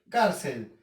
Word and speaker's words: cárcel: Cárcel. Primer paso, separar la palabra en sílabas. Dos sílabas, car y cel. ¿Sí? Car y cel. Segundo paso, identificar la sílaba tónica. Cárcel. Aquí lleva la sílaba car.